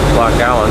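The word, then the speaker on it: Loch Aline: We'll be coming up very soon on Loch Allen, that's spelled A-L-I-N-E, which is supposedly Uncle Donald's final resting place.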